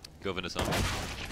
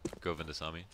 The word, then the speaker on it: Govindasamy: How do you pronounce that? Govindasamy. Yeah. Yeah, you were close. Just Govindasamy.